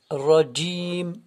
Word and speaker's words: رجيم: Jim, le jim est comme le j du mot djinn, le djinn. Alors, rajim, je répète.